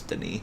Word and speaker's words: Denis: Well, as a male name, you probably say this Denis without pronouncing the S, because girls usually add an E, which makes you pronounce the S, so it would be Denise then.